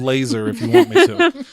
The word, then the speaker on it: Lazar: later so prepared also his last name is spelled la ZAR so I could call him Bob Laser Joe broken said very